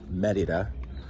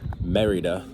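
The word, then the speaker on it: Mérida: now into being here in Merida, or as the Americans say, Merida. They just go straight up merry.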